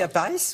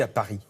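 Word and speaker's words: Lapix: est dans le on Ann Sophie à Paris ou Anne Sophie à Paris alors là c'est exactement comme vous avez envie moi j'aime bien prononcer le S finale mais Anne Sophie je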